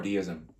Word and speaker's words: deism: And so there are two ways to pronounce it, deism or deism.